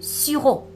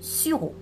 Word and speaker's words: sirop: Voilà ici aussi du sirop. On ne prononce pas le P. Du sirop.